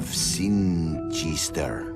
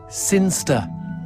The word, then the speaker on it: Sinchester: But Elliot Thomas was still stuck down on Earth in the boring town of Sinchester. Sinster. What? It's pronounced Sinster. How do you know? My cousin's from Sinster.